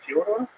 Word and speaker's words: Fyodor: I'm like, yeah, well, that's kind of the accepted American pronunciation of Fyodor, though. So I wanted to ask you if it's Fyodor.